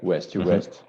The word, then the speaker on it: West to West: West to West, that we are building together, West to West. Both are pronounced in the English way, even if it's written in French.